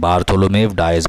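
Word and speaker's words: Bartholomew Dias: The king of Portugal Saint बार्थोलोमेव डायज, ऐसे ही पढ़ना है इसका नाम, बार्थोलोमेव डायज, बहुत इंपॉर्टेंट नाम है, याद रखिएगा इसके स्पेलिंग भी।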